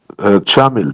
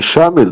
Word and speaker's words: Чамиль: Чамиль, Чамиль. Не Шамиль, но Чамиль.